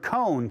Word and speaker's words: cone: So here's the word cone. Can you say cone? And it has the same thing, O. So I know the O is going to be there. But right now it says on. But when the E is put there, the E is telling the O to say its name, not its sound.